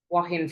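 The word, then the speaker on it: Joaquin: And how do you pronounce his name? Wahin, is it? Yeah, it's it starts with a J. Yeah, it's like Spanish, isn't it? Wahin Phoenix.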